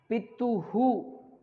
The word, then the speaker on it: पितुः: अहम सविनयम निवेदयामि यत मम पितुः, ये ता में ऊ है, हु, पितुः, आर्थिक स्थिति ही शोचनीया वर्तते।